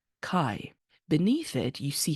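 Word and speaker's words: καί: word it says Kai this is the phonetic version of the Greek word it's anglicized this is how it's pronounced Kai beneath it you see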